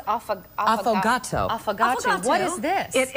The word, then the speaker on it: affogato: gonna get you a few more this is pronounced often affogato focaccia what is this it is an Italian